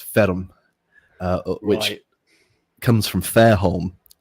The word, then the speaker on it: Ferme: Well, it's because you're pronouncing the e at the end.